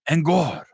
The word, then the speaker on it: En garde: It's like French. En garde. That's right.